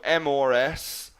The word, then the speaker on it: Mrs: Then we have Mrs., so M-R-S is pronounced Mrs., and that's for a married woman.